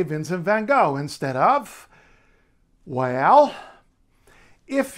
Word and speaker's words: Vincent van Gogh: you might remember that the letter g in Dutch is never ever ever pronounced G or for that matter J it's pronounced or at